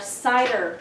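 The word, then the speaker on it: CIDR: masks we talk about our cider notation that's how you say it like apples right and we refer to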